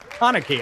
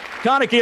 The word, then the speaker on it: Kaneki: please welcome austin tindall chanaky i always i always do the wrong emphasis on the wrong slobble kaneki it's awesome timble everybody